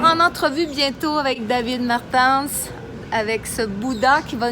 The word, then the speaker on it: Martens: Est-ce que je le prononce bien? Tu prononces bien, c'est bon! C'est rare que quelqu'un là du premier coup en plus. Mais je me suis pratiquée avant parce que je disais Martin, puis il dit que